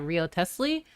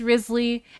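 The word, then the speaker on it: Wriothesley: Like I look at it and I'm like, oh, is that Rio Tesley? And then people are like, no, it's Risley. And then someone else is like, actually it's pronounced like this.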